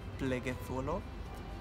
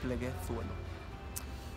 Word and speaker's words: Pleguezuelo: The proper pronunciation in Spanish is pleguezuelo. People struggle to say the Z, because in Spanish it's theta, but the right way to say is pleguezuelo.